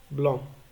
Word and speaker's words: blanc: Parfois, à la fin du mot, la lettre C ne se prononce pas. Exemple, blanc.